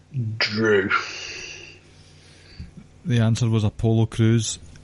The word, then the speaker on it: Crews: The answer was Apollo Crews. Crews rhymes with Drew. So that's worth a point. Yep. I said Crews, it was just bad a mark pick up.